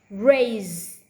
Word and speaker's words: raise: Raise. I raise my hand because even though spell S is pronounced with voice Z.